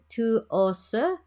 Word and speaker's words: TWS: I think it's pronounced Tuose, which is apparently short for 24/7 with us.